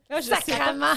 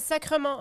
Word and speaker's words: sacrement: même chose c'est qu' sac sacrament sacrement ah oui on dit sacrement ok moi je pensais c'était sacrament même si c comme